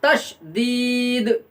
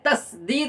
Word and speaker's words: تشدید: تشدید ہوتا ہے، اور تشدید کی صحیح تلفظ اور صحیح ادائیگی ہم کریں گے تا شین دال، تشدید۔ بہت بچے اس کے اندر غلطی کرتے ہیں اور تشدید کے بجائے تسدید بولتے ہیں، لیکن تسدید نہیں بولنا ہے ہم کو، بلکہ